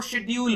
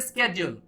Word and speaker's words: schedule: तो इसे British English में जो प्रोनाउंस किया जाता है वो शेड्यूल होता है, शेड्यूल, और इसके स्केड्यूल, यहां जो प्रोनाउंस करते हैं इसको स्केड्यूल कहते हैं। देख लीजिए एक ही वर्ड है लेकिन दो प्रोनाउंसिएशन हो गए, शेड्यूल और स्केड्यूल।